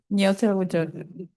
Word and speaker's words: Nyotowidjojo: And I will accept your pronunciation of the name. I was just gonna say, Dr. N. Nyotowidjojo. Say it again. Nyotowidjojo. Nyotowidjojo.